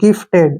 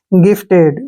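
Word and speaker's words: gifted: ठीक है ना इसको जिफ्ट नहीं पढ़ना है जी के बाद वावल है तो जी का उच्चारण ग के रूप में करेंगे जी आई से हो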